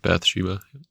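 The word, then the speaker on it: Bathsheba: Bata Biba or how do you pronounce her? Yeah, Bath Sheba.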